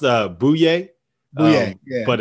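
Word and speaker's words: Bouyea: is is booyah ali yeah it's pronounced it's pronounced uh bouye oh yeah yeah but it's it's spelled boo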